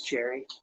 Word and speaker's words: cherry: And yeah, he did use cherry. Yeah, thanks. Cherry rhymes with Larry.